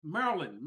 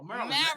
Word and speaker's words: Marilyn: How do I say her name? Marilyn, like Marilyn Monroe. Marilyn.